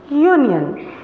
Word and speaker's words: union: school a dog etc some word starts with a vowel letter but has a consonant sound for example European unit Union these letters start with your sound so we put of